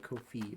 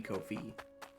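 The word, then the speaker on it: Ko-fi: Saying Kofi instead of Kofi. It's supposed to be Kofi.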